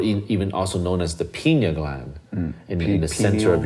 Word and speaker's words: pineal: So the pineal gland, the pineal brain, is not peanut. I always thought it was a peanut. Wait, pineal gland.